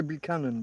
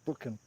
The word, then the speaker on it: Buchan: well I guess 39 steps the John Buchan John booken I guess you pronounce it I was going to say banan but it's not it's bookan John booken novel turned into uh a number